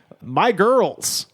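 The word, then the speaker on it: Migyrlz: And the artist on here is My Girls, which is spelled M I G Y R L Z.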